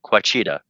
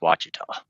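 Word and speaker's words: Ouachita: mountain on on a map you would probably pronounce it quaa because that's what it looks like but it's pronounced wa that's only three hours away oh okay I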